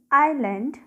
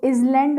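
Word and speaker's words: island: There was a small आइलैंड इन काथिया. पहली चीज़, इसको इजलैंड मत पढ़िएगा, इट इज़ आइलैंड. यहाँ पर एस जो है वो साइलेंट रहता है, ओके.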